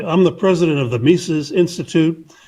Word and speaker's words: Mises: Mises rhymes with pieces. Yeah, I always said Mises.